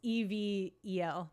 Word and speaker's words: Evel: No, it's EVEL Dick. He competed long time ago on Big Brother. Yeah. What? Never mind. Okay, I actually didn't hear you. What did? Evil Knievel. It's spelled like Evil Knievel is what you're saying.